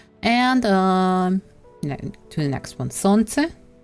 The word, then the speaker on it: солнце: And to the next one, солнце, no L, солнце.